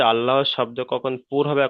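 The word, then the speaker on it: الله: পুর করে পড়বো, অর্থাৎ ল করে পড়তে হবে, ল, আল্লাহ।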